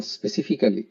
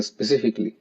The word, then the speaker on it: specifically: স্পেসিফিকলি এটার আমি আগে বলতাম স্পেসিফিক্যালি, তো বিদেশে আসার পর, বিদেশে না ঠিক সিঙ্গাপুরে থাকতো স্পেসিফিক্যালি বলতাম, পরে আমি কিছু ভিডিও দেখছি যে কিছু কমন শব্দের মিসপ্রোনাউন্সিয়েশন, তো এটা আসলে সঠিক উচ্চারণ হচ্ছে স্পেসিফিকলি। Specifically, we will look at the condition 2 column.